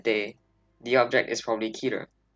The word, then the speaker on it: Keter: the object is probably keter there are a few ways to pronounce the word but for the purposes of this video i pronounce it as keter ketoclass objects are extremely